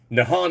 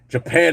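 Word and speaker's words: Nihon: Nhan is actually how they say it. Japan is how everybody else says it. Mostly because when the um, the Portuguese went there, they really couldn't say nan. So they were saying hapan.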